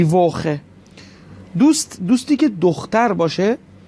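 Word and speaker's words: Woche: اینجا سی ها یا سی اچ رو میبینید قبلش او اومده، بنابراین باید خ تلفظ بشه، دی ووخه.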